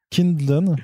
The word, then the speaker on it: Kindlon: C'est Patrick Dillon. Patrick Clindon. C'est comme Patrick Klingon, mais pas dans Star Trek. C'est pas Patrick Vulcain. Donc c'est Patrick Kindlon, j'imagine que ça se prononce comme ça, avec Marco Ferrari au dessin.